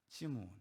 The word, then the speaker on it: 시므온: 시므온. 그럼 왜 시므온이 우리 주제와 연관되냐? 여러분, 시므온과 시몬은 똑같은 이름이에요. 시므온은 히브리식 발음이고 시몬은 헬라식 발음이에요. 이스라엘 말로는 시므온이라고 말하고 그리스 말로는 시몬이라고 말하는 거예요. 똑같은 사람이에요.